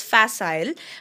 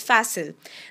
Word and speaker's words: facile: In US English, this is pronounced as facile, but in UK English, the one that we follow in India, it's pronounced as facile.